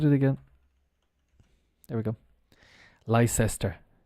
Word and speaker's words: Leicester: again there we go Leicester and the pronunciation of l-e-i-c-e-s-t-e-r is Lester Leicester Square let's get